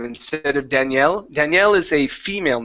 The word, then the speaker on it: Daniel: Instead of Danielle, Danielle is a female name. Daniel, with the stress at the beginning, is a male name.